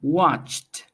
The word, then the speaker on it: watched: first ending is teeth watched the pronunciation ends with the T watched then we have celebrated